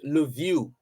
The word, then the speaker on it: Lviv: It's spelled Lviv, but pronounced Lviv.